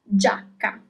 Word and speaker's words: giacca: The first example is giacca, jacket.